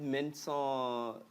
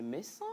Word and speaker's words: Messan: Yvette Mensan, c'est Messan ou c'est Mensa? Messan. Dans le micro, ben, oui, chez nous à Néro, chez nous à Néro, il y a ça dit des nuances dans la prononciation. Il y a Mensa. Il y a Mensa. Je me suis toujours posé cette question. Mensa et Mensa. C'est Messan. Ah, Messan.